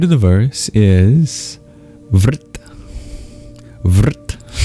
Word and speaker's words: vṛtti: Vrit. How do you spell that? It's V-R-T. In Sanskrit, R can be used as a vowel. It's called a vocalic R. Vrit. V-R-T. Vrit means surrounding, enclosing, obstructing